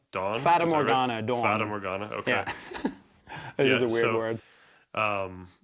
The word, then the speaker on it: Fata Morgana: Forgive me if I pronounce Feda Morgana. Dawn. Fatana. Dawn. Fatamorgana.